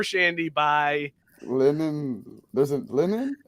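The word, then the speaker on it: Leinen: shiny wait a second you need to pronounce the name of that brewery it's summer shandy by lemon there's a linen it's l-e-i-n-e-n lemon googles nope nope linen logos that's a better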